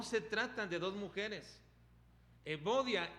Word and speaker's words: Evodia: que es el marido de evodia o euodias como se pronuncia en griego ahora el nombre de